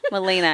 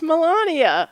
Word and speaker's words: Melania: I'm the opposite of Melania, but you can I understand. think that's not her name. I think it's like Melania. Melena, I think. No, it's Melania.